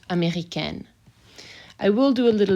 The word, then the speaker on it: américaine: And if I add an E, then my N gets pronounced, américaine.